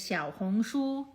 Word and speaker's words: Xiaohongshu: There's a more detailed video on how to pronounce the actual name of the Rednote app. It is Xiaohongshu. I already made a much shorter, simple Xiaohongshu.